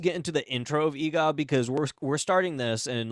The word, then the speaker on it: Eegah: And I look at it, I'm like, "It's Eegah."